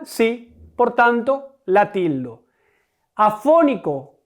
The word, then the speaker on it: afónico: Afónico, ¿cuál es la sílaba tónica? Fo, afónico. ¿Qué sílaba es? La antepenúltima, como teléfono.